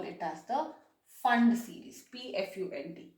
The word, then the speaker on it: Pfund: And if they fall into the fifth shell, we call it as the Fund series, PFUND. P is silent there.